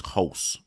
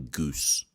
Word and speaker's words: Hulse: This guy's name is Hulse. Andres Hulse. There's me calling him Goose.